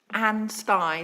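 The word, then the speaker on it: Ansty: item no I'm going to home in on anstey that's right isn't it that's how anstey that's how you pronounce it is that correct yep um I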